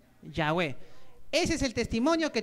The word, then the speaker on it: Yahweh: ¿Qué pronuncia? Yahweh.